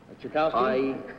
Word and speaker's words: Tchaikovsky: How would you pronounce the name T-C-H-A... Tchaikovsky? Yes.